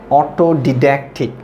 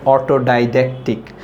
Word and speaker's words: autodidactic: Autodidactic. So most of the students cannot pronounce it properly. They pronounce it autodidactic. So no, that's the wrong pronunciation. The right pronunciation is autodidactic.